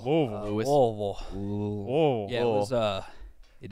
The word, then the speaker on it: Louisville: was Louisville oh yeah Louisville Louisville yeah it was uh an interesting weekend why what happened how was you to say it like you have a dick in your throat did they police that